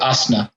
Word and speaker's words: asana: Is it Anna, like you pronounce it, or is it asana, like from Sanskrit? It is ASANA.